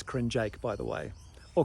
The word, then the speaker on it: Krnjaic: european man's body with an impossible surname to pronounce it's crin jake by the way or cringe if you want to be really authentic about